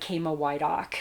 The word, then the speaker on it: Chama Woydak: a non-traditional name so i'm polish um but kama why doc so it's spelled c-h-a-m-a and my last name is w-o-y-d-a-k